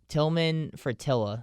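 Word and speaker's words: Tilman Fertitta: to say his name it's uh fratilla uh tillman fratilla that's how you say it um but he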